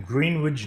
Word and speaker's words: Greenwich: Located in Greenwich, New York. Not Greenwich, but it's spelled like Greenwich, but it's Greenwich.